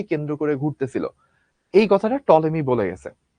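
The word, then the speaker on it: Ptolemy: করে ঘুরতেছিল এই কথাটা টলেমি বলে গেছে। টলেমির বানানটা পি দিয়ে শুরু। বাট উচ্চারণটা হচ্ছে টলেমি।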